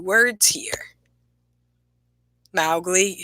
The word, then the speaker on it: Mowgli: So this is the front page, and it says, now the other question is, I pronounced it Mowgli, but I'm pretty sure it's Mowgli with a long O.